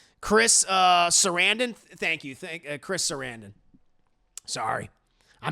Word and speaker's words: Sarandon: Chris Sarandon. Sorry. I mispronounced his name.